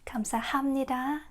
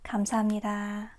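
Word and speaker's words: 감사합니다: Because listen carefully, we don't say um we don't say kamsahamnida kamsahamnida. We say kamsahamnida. Kamsahamnida. It's very smooth.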